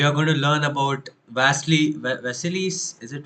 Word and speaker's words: Vasily: So in today's session, so we are going to learn about Vasily's. Is it Vasily?